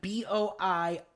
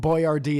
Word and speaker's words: Boiardi: So it's like Boiardi. Right. And Boyardee is just like the whitest way to say it.